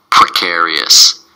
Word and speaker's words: precarious: the day is precarious precarious precarious precarious it's four syllables and the stresses on the second syllable tear e care e